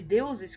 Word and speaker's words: deuses: Eleusis com Deuses né utilizamos Justamente a pronúncia do português de deuses que nos fala Deuses se fala como se fosse um Ih aí tá rimando com Eleusis aqui então são palavras